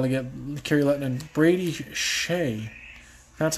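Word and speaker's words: Skjei: my aluminum islander brayden shay that's the name took me a while to get carrie letting brady shea that's how you say that's how you pronounce that guy's last name shea s-k-j-e-i nice job brady so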